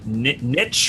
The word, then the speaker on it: niche: Yeah, it also allows people to be more creative or more niche or niche, or depending on how you say it, right?